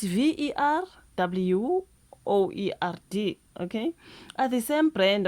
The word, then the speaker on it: Verwoerd: Now, Charlie Kirk and Verwoerd, how do you pronounce that? It's Verwoerd, okay, are the same brand of poison.